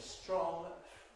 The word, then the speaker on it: strong: In the case of strong, you do tend to get an affricate, a tr, so perhaps we can say the whole thing is voiceless there, but it's certainly not aspirated in the sense we were looking at before.